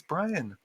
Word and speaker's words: Brion: They're gonna be like, no, dude, it's Brian. It's Brian Stewarm. Let's see. The second T is silent.